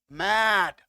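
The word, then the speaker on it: made: इसका उच्चारण होता सिंपली मेड। क्या होता? मेड, ए नहीं होता, मेड।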